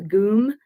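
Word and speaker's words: ГУМ: Red Square called the goom it's spelled like gum but it's pronounced goom and um there's it's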